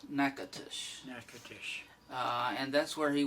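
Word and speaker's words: Natchitoches: indians but anyway the the louisiana town is n a t c h i t o c h e s okay now all of that is three syllables nakatush uh and that's where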